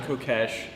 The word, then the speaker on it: Kokesh: pronouncing that right alright there are several acceptable pronunciations of my last name as we don't say hawkish okay all right I'm Co Cash running for president well